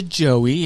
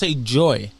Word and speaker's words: Joey: Yeah, I have some that it's just a Joey, and they'll say Joy, Joy. It's like, no, it's not. It's Joey.